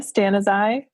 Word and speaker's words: Stanizai: your last name uh it's sarah stan as i like stand aside okay stan as i